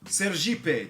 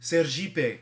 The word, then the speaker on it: Sergipe: Sergipe, because, you know, in Portuguese, ser means be, and Jeep is how you pronounce Jeep.